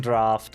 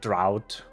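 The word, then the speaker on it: draught: Uh, grade three gem draft of mind. There it is. I love when people pronounce it drought cuz like it kind of is spelled like drought.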